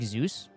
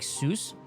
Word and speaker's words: Seuss: you guys heard of the real pronunciation Dr seus is it like Zeus no like Seuss oh Dr s so